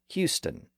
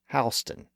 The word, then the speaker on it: Houston: in Texas it's pronounced Houston for the street in New York City it's pronounced hon the city and the street are actually named after two different people who pronounced their last names differently and that's why the